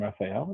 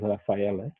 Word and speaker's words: Raffaele: My real sense is I'm Italian, so it's not my real name, Rafael. My real name is Raffaele. I don't use it, but that's a different reason because most people can't pronounce my name. So Rafael is fine.